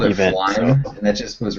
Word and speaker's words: Flyme: that's how you pronounce Okay. it. Yeah, I like Flyme that sounds way right. better.